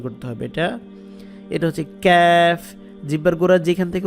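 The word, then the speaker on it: ك: জিহ্বার গোড়া থেকে উচ্চারণ করতে হবে এটা হচ্ছে ক্যাফ জিহ্বার গোড়া যেখান থেকে উচ্চারণ করছেন তার একটু সামনের দিকে আনলে যেটা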